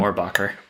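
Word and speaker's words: Mohrbacher: And like you said, the first artist rendering of him was by Peter, I can't pronounce his last name. Morbacher.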